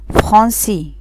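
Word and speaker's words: français: عند وجود هذه العلامة يحتفظ السي بصوته الاصلي وينطق اس. ناخد اكزامبل، عندي ليسون، ليسون يعني درس. عندي جارسون، جارسون يعني ولد. عندي فرنسي، فرنسي يعني فرنساوي.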